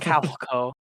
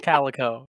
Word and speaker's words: calico: It's not Calico. It's Calico.